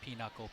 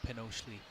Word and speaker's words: pinochle: One time I was, discussing words and anagrams with somebody, and they pronounced pinochle Pinochely. Pinochely. Which is a beautiful pronunciation of a rough German word.